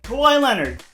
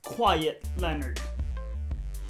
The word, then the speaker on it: Kawhi Leonard: Kawhi Leonard. Some people may say his name as Quiet Leonard.